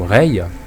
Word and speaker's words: Rei: une protagoniste nous sommes Reay actuellement c'est la fille que je contrôle Reay qui donc s'écrit r e i hein c'est pas comme Reay rayer enfin peut-être qu'elle s'est